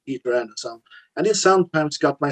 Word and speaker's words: Pidde Andersson: Well, it's spelled Pidde Andersson, but it's pronounced throat wobbler mangrove. No, it's Pidde Andersson, but it's just my nickname, actually.